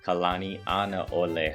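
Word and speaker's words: Kalanianaʻole: this image that's actually kalana ani ole highway all right and if you break it down into a couple two or three letter segments it's gonna help you out right kalani anaole highway okay so just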